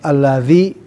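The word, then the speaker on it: الذي: Ini ini bukan alladzi ya tapi alladzi ya. Ingat setiap alladzi pasti pakai huruf dza.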